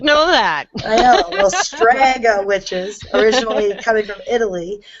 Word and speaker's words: strega: All right. Striga. Striga? Strega. Strega. Strega. Strega. Yeah. All yeah, right. pronounce that with a strega. Yeah. Strega. Strega. Yes. That's Strega that's witches. Italian witches.